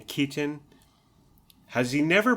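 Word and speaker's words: Keaton: wonder like maybe Michael Katon is the same well okay so has Michael Katon been he's 50 years 60 years old has he just given up and he stopped pronouncing the T in Kon has he never pronounced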